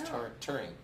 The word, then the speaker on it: touring: Or touring, as I'm supposed to say it. I always mess it up. You know that? It's touring. Touring? Like tour, yeah, touring.